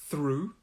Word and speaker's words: through: in these two words both of the th's are a th sound so we say through through to make this th